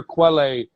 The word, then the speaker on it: Quelle: No disrespect, Quelle Chris. I literally thought it was... Because in Canada, that's spelled Kel. Okay. Quelle. So in French, that's Kel.